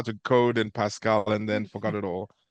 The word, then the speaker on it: Pascal: he's not it's actually he's actually named after a old language programming language Pascal yes yeah absolutely Pascal Lambe yes so well